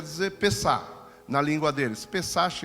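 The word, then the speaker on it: פסח: Pessach, a gente lê assim, mas a pronúncia do hebraico é Pessah.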